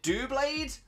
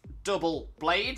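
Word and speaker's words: Doublade: well I know that some people have a thing with double blade where they will call it do blade um obviously it's double blade so double blade makes more sense but again I was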